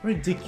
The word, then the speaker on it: ridiculous: Notice which syllable is stressed. In the case of the word ridiculous, it's the middle syllable.